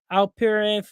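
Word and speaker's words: Alperen: Maxi from the 76ers, and then you got Al Perin um from the Houston Rockets.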